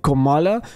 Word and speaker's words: Kamala: La manera correcta es decir Kamala, algo que acostumbra a hacer y que fue corregido por la audiencia.